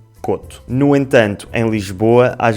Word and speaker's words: Couto: Tanto o apelido Couto como a palavra “coto” se pronunciam “coto”.